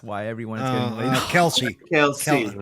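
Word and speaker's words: Kelce: The problem is it's because it's all because that guy Kleck is taking Taylor Swift off the market. That's why everyone's getting laid off. Kelsey. Kelsey. Pronounce his name properly.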